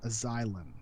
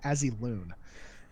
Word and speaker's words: Azylon: Thank you to Two Shanks, Aleandros, Azylon. See, I pronounced it correctly for you, buddy. Chupa. Well, because I used to call him Azeloon.